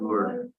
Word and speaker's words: Louvre: Louvre.